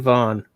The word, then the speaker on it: Vaughan: Yeah, made with pride in Vaughan. Now I've probably mispronounced it, right? No, I think it's Vaughan.